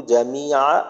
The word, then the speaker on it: جميع: আসমাইহি ওয়া সিফাতিহি অকবিলতু জামিআ আহকামি। আচ্ছা, জামিআ আইনের উচ্চারণটা আরেকটু স্পষ্ট করলে ভালো হবে।